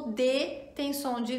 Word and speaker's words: de: Temos o DE, que se pronuncia fechadinho, tá? D, ainda é um E, mas se pronuncia fechado.